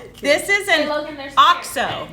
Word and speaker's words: OXO: This is this is an Logan, there's OXO. That's how you pronounce it. I was told that when I worked at Williams-Sonoma. OXO, O-X-O. People don't know how to say it. That's the brand. It's called OXO.